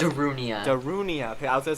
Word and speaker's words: Darunia: Someone pronounce Darunia. Darunia.